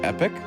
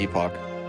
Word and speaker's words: Epoch: i found out that it's actually pronounced epic but i'm still calling it the epoch but i had to